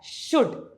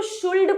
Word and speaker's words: should: पहली चीज तो ये इसके अंदर जो एल है वो साइलेंट है तो इसकी राइट प्रोनंसिएशन शुड होती क्योंकि मैंने अपने इस करियर के अंदर काफी सारे स्टूडेंट्स को देखा है जो कि ना इसको शुल्ड पढ़ते हैं लेकिन गाइज ये इंग्लिश